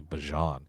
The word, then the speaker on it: Bijan: couple of guys, and they asked if that's how you pronounce it, is Bijan. He said it's actually Bajan, and he wants people to call him that, so it's Bajan.